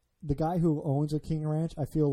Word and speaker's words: King Ranch: You have to elongate everything, so it's King Ranch. So the longer you can stretch that out, the longer you stretch it out, the more proper that is.